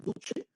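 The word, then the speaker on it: Duce: Guerra Mundial y hablemos de Vito Mussolini el Duche en italiano Cuando tú veas la letra c esa c se pronuncia como Che ent por eso se pronuncia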